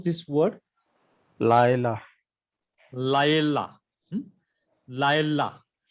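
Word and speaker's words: לַיְלָה: Laila. Laila. Laila. See, this comets He is a long vowel which is attached to the Lamed.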